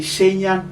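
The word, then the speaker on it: Shenyang: he came all the way from another city shenyon right that's how you pronounce it yeah all right so yeah yeah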